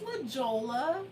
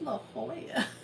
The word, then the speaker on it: La Jolla: But like Fluff, we were driving up northern San Diego, and he was like, "What's La Jolla?" And I was like, "That's La Jolla." But then, I mean, that's just Spanish though.